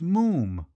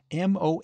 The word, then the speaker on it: Moffam: the first time I told you father it's Mo M it's spelled m o ffam m but pronounced Mo to rhyme said